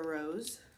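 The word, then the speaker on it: Rosé: um ciate london diva fresh sugar rose or is it supposed to be rose i think it's supposed to be rose because it's got a little accent on the e the buxom center fold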